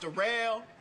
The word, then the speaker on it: Darrell: It's spelled like Daryl, but it's pronounced Darrell.